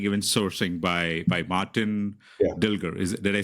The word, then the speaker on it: Dilger: on Amazon Understanding even sourcing by by Martin dilger is did I say your last name right yeah yeah that's perfectly pronounced yeah right like how do you see